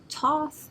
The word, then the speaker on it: Thoth: teacher Awakening Divine magic Thoth pronounced Toth is also known as